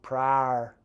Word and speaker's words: Pryor: comments I worked in Pryor Oklahoma prior Pryor Oklahoma that's how they still pronounce it I think my grandma's